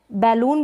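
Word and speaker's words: balloon: यहाँ पर बैलून भी पढ़ते हैं, बैलून, बलून करके भी, और बैलून, दोनों ही प्रोनाउंसिएशन होता है इसका।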